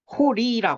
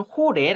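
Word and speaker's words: ϩⲟⲣⲓ: 얘는 흐 발음이나요 그러니까 얘는 이제 호리라 하는 앤데 교재에는 호레 아고 돼 있거든요 근데 저는 호리라 하는 쪽의 문법서 좀 더 일리가 있다고 생각합니다 그래서 이제 얘는 원래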